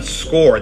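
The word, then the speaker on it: Scoir: I don't have a score account and it is pronounced score even though it's spelled s c o i r and so this is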